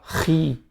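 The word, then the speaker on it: χ: E lá o que tá xi, a gente fala ri. Não tem esse som na língua portuguesa. Então nós escrevemos xi para representar esse som de ri.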